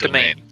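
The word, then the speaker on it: demesne: And And it is pronounced domain.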